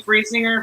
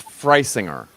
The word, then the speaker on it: Frisinger: they dropped the e for the germans it would be free singer but it's just right singer here so the irony is that yeah we don't even spell it right and everybody gets it wrong too so it's not just you so the answer is freisinger bryce ingredients yeah what